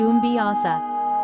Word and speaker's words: Ombiasa: I was doing a study abroad in Madagascar, and for my final project I got to study the island's shamans, called Ombiasa, pronounced Umbiasa.